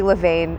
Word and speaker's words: Levain: I always say Levain. Everybody I know always says Levain. That is always how I hear locals pronounce it. But I have heard an argument that it's supposed to be Levain instead.